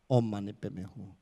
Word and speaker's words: Om Mani Padme Hum: So with that note, can you say Om Ma Ni Ped Me Hum? So Om Mani Pe Me Hum, okay? It's only six syllables.